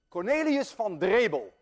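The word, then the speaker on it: Cornelis van Drebbel: Cornelius van Drebel, and I know how to pronounce that name because I'm Dutch.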